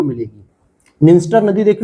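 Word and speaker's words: Dniester: निंस्टर नदी देखो ये रहा, जिसमें डी साइलेंट यहां पर भी रहेगा, ये यूक्रेन के पास से निकलती है और यहाँ पे मालदोवा देखने को मिलेगा।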